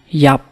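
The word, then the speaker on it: ïap: key shot key shot 20 to die ban yup bun yup you can pronounce it as Y up with a wise son if you see the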